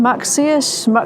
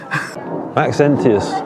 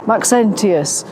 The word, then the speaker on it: Maxentius: Maxus I can't pronounce it. Maxentius Maxentius in AD 307.